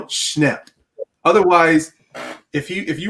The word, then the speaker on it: Schnepp: today everybody and yeah i'm i'm accentuating his name because i don't want to make it sound like i'm saying john snip no schnapp otherwise if you if